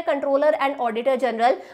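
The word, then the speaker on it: comptroller: बोलते इसे कंट्रोलर ही है। सी ओ एम पी टी आर O double L ई आर। यह स्पेलिंग है बट बोलते कंट्रोलर है।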